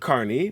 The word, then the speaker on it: Carney: without a lisp Mark Carney pronounced car like the metal thing that goes fast on highways and KN like the excruciating little bit of Hell in everyone's body that activates when they turn 30 christop Freeland pronounced free